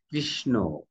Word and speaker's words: কৃষ্ণ: যে আমি কৃষ্ণ বলছি যে কৃষ্ণ দেখো শেষে একটা ও এসেছে না কৃষ্ণ হ্যাঁ উচ্চারণের শেষে